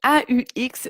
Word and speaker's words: au: Donc, ça se prononce de la même manière qu'au pluriel, au.